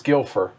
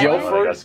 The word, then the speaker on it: Guildford: you kumo interesting hmm guilford apparently it's gilfer or d is it guildford guilford guilford hold on